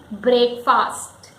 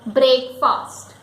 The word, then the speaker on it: breakfast: The correct pronunciation of this word is breakfast. Breakfast. It is because going by the spelling, it is break and then fast, slow and fast, break. But it is not break fast, it is breakfast.